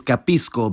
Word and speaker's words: capisco: the present tenses but notice how that cluster changes pronunciation depending on the following vowel I understand is capisco but you understand is capish same applies for de